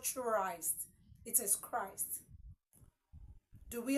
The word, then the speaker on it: Christ: CH h r i s d is not Christ it is Christ do we understand are we